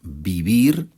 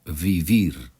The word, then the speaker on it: vivir: Ya sabemos que la V, o también llamada B corta, se pronuncia como B en español. Por eso decimos vivir y no vivir.